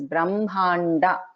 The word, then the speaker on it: Brahmanda: And here in Brahmanda, Ha and Ma, it should be pronounced as Brahmanda.